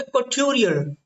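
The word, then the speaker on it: couturier: आज का हमारा जो आखिरी शब्द है वो है कॉट्यूरियर। इसको क्या पढ़ेंगे दोस्तों, कॉट्यूरियर। तो कॉट्यूरियर, जैसे मैं बोल रहा हूँ वैसे ही प्रोनाउंस करना, हो सकता है कि आप मुझसे अच्छा प्रोनाउंस कर जाए, है ना।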